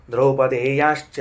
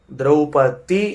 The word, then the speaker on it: ದ್ರೌಪದಿ: ಅಂತಂದ್ರೆ ದ್ರೌಪದೇಯಹ ಪದವನ್ನ ಗಮನಿಸಬೇಕು ನಾವು ಮೊದಲನೆದ್ದು ದ್ರೌಪತಿ ಎಂದು ಶಬ್ದವನ್ನ ಉಚ್ಚಾರಣೆ ಮಾಡಬಾರದು ತಪ್ಪು ಶುದ್ಧ ಅಪದ್ಧ ದ್ರೌಪದಿ ಅಂತ ಅವಳ ಹೆಸರು ಅಲ್ಲ ದ್ರೌಪದಿ ಅಂತ ಅವಳ ಹೆಸರು ಯಾಕ ಅಂದ್ರೆ ದೃಪದನ ಮಗಳಾದದ್ದರಿಂದ ಅವಳನ್ನ ದ್ರೌಪದಿ ಎಂದು ಕರೆಯಬೇಕು ದೃಪದಸ್ಯ ಅಪತ್ಯಂ ಸ್ತ್ರೀ ದ್ರೌಪದಿ ಹೊರತಾಗಿ